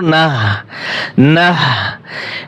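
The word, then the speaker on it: نحن: তাহলে এটা হচ্ছে ছোট হা নাহ, আর যেটা বড় হা সেটা উচ্চারণটা কি হবে? নুন হা জবর নাহ, নাহ নাহ।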